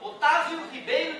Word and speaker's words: Octávio: é mais curto ó de Octávio LC se escreve meu nome é Otávia tá o cezinho ali é frescura latim Eh meu nome Otávio Ribeiro de se tu